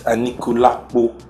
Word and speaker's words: Anikulapo: Now, I only just found out what ANIKULAPO means because you guys pronounce it funny and then no, it actually means ANIKULAPO. It's ANIKULAPO.